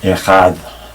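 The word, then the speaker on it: אחד: that sound is lost in modern Hebrew. So I try to pronounce it in the ancient Hebrew way as I was taught, and so I say Echad with a the at the end.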